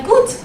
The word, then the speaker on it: gut: And then you can reply, gut. Gut. Wie geht's? Gut, like good, right? Very similar pronunciation.